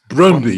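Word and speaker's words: Brøndby: Brondby, yeah, that's Brondby.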